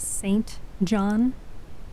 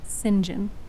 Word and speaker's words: St John: it with modern words it is St John by a coworker of mine who knows a thing or two uh said that it would be appropriately pronounced singen I am come to